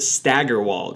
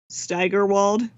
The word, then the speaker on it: Steigerwald: good way to spend a Saturday hey I pronounced it stagger walled right well even though my ends are cousin pronounces it that way I think officially Steigerwald so a little less on the stagger I